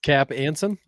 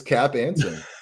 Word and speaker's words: Cap Anson: So it's just like Knapp or it's not Knapp, but it rhymes with Knapp. Oh, is it Cap? Yeah, Cap Anson. It is Cap Anson.